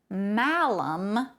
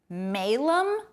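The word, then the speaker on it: malum: the bible into latin we find that malam m-a-l-u-m with a short a sound is the word evil in latin okay however that same exact word but with a long a sound as in malem m-a-l-u-m spelled exactly the same way also means apple in latin yes the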